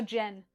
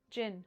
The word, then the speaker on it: Jin: How do you spell it? Genshi. No, Jen. Jin.